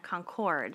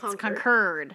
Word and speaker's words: Concord: like the north carolina concord no it's concurred conquered just like a northerner would say it yeah i mean i